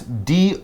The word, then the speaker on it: dough: heat the bread was dough first and notice d-o-u-g-h but it's just pronounced like d-o dough so as mike said